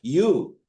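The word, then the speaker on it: ewe: Similarly the female got the pronunciation is u but the spelling is e we e.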